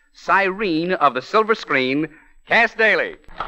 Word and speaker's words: Cass Daley: of the Silver Screen cast daily well well well well Cass Bailey well now pardon me Mr Amici but you've got my name wrong it's not cast Dairy it's Cass G daily what's the G for